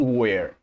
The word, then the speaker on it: were: Se pronuncia así, was y where, como la palabra interrogativa ¿dónde? Where.